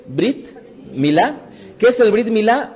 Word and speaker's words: Brit Milá: Brit Milá, pronuncien Brit Milá.